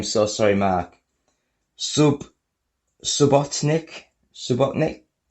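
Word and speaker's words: Subotnick: sorry Mark sub subotnik subotnik sounds like Robotnik doesn't it it was a producer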